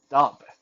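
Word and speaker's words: Daab: It's spelled D-H-A, da, and some in some places it's spelled D-A-A-B and dub.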